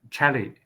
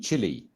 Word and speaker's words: Chile: clarifying the parameter with Chile, with Chile colleagues, the, Mhm. South America, the longest country Chile. with the Chile, okay, Chile. not Chile, Chile, Chile, yeah, Yeah, we pronounce it Chile.